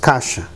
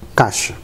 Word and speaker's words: caixa: In everyday language, we do not pronounce the letter I. We say just caixa, caixa.